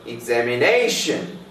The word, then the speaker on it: examination: For example, examination, the stress is on fourth syllable here.